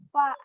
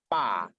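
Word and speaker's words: ف: Jadi fa beda sendiri. Makanya fa ingat kesalahannya jangan sampai fa itu dibacanya pa.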